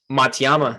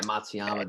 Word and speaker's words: Matsuyama: too i can't even say his name um matayama hideki yeah matsuyama dude like he's plus 4000 right now like